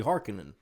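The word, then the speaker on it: Harkonnen: It's Haron, but it's not. It's actually hearkening.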